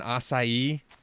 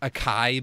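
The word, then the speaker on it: açaí: me at elderberries and acai aren't you proud of me for saying it right and not Akai berries as everyone says oh I don't want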